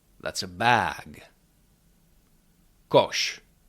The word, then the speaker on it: koš: Tashka that's a bag kosh kosh that is a basket with hatche is pronounced ch like in the English words check